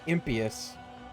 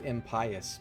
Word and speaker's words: impious: Impas never heard it pronounced that way. I never heard it pronounced. Always thought it was impious because the word is pious.